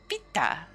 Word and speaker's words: Vita: The V is pronounced by biting lightly on your lower lip, while the ta requires flicking your tongue against your teeth. Vita.